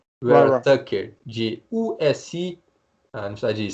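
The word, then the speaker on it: Vera-Tucker: o Elijah Vera Tucker, como diriam os americanos, não é Vera, é Vera Tucker, de USC, na cidade de South Carolina, South California, que é um bloqueador Santa também.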